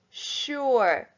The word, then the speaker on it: sure: an n number six sure shh you sorry s u r e the s is making a tricky sound sh there number seven from